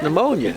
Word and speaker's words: pneumonia: That's pneumonia. That's how you spell it with a P.